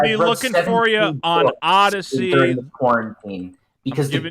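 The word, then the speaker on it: Odysee: Odyssey is the new one that people are talking about. Yeah, I don't know how to spell it. I don't really. It's pronounced ADY and then SEE.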